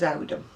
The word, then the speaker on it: Oldham: i've just told you about oldham which when i came from it it was audum and there's a place in oldham that's called well it's